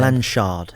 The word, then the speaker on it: Blanshard: Blanshard.